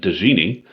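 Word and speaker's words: djinni: say genie um but dizzini um is that d silent yeah the d is silent it's like django oh it's only silent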